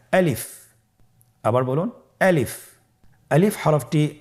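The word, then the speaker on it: ألف: বলতে হবে বলুন আলিফ আলিফে কিন্তু কোন টান নেই আপনারা বুঝতে পারতেছেন আমি যখন আলিফ বলছি এর মধ্যে কোন টান হবে না আলিফ আবার বলুন আলিফ আলিফ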